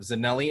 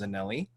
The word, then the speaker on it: Zanelli: There's Bailey sitting on top of Zanelli. It's Zanelli. I thought it was Zanel for a while, but it actually is pronounced Zanelli.